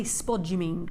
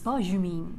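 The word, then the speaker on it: spodumene: happens here in this we used to say spod you mean because the vowels and the consonants look like that but i've since learned you do not pronounce it like that it's sparshumin which is far nicer spodgy mean just sounds like sponge smudge spuds or something doesn't it so we were saying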